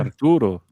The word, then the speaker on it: Arturo: And rolling the R on Arturo. Yeah, for sure. Arturo.